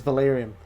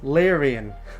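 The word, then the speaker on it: Larian: of her recent releases Valerian or Valerian I don't actually know what is oh I need to look this up ah okay it's larion so ignoring my pronunciation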